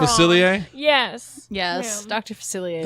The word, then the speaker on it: Facilier: his name wrong. Facilier?